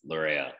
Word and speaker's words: Laryea: need to pronounce the in ghana it's li and then the english ways lorea is it luria okay yeah cause bro